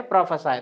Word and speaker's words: prophesy: इसका प्रोनाउंसिएशन क्या होगा? प्रोफेसाई।